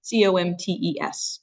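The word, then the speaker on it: Comtes: It's C-O-M-T-E-S. So Comte is how we would pronounce that.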